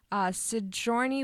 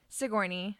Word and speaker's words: Sigourney: Sigourney Weaver. Did I pronounce it right? No. Sigourney? Sigourney.